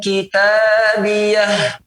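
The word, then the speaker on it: كتابيه: memang ia kata ganti, namun cara membacanya ia tidak boleh berikan harakat, harus disukunkan. Seperti Allah katakan ya, fayaqulu ha'umu qara'u kitabiyah.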